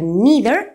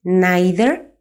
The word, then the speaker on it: neither: comenzamos ya desgranando despacito cuando usar needer y cuando usar eater Por cierto también se pronuncian nider o aider así que lo podéis escuchar de las dos maneras vamos primero con neither